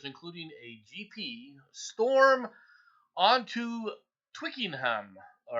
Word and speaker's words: Twickenham: all right uh have stormed the pitch it's wicking him is that how you say it Batman welcome yeah hello so it's it's Twitter is that is that how it's pronounced do the rolly bit Twickenham okay Nam all right now look I like